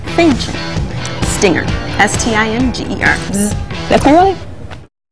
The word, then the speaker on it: Fanchon: Fanchon. Oh, gosh. Rhymes with mansion with an F. Fanchon.